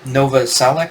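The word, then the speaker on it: Novoselic: then then of course what's his face uh Nova salak is how you say his name the Bas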